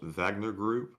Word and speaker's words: Wagner: have mentioned that um wagner group is actually pronounced wagner group um since they're german so i guess that would be the case so the next question